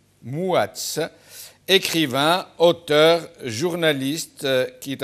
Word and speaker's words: Mouatz: Depuis l'Algérie, depuis Mostaganem, je crois, Mostaganem, Mouatz, je rappelle à la régie que Mouatz s'écrit avec M-O-U, Mouatz, écrivain, auteur, journaliste qui est avec nous.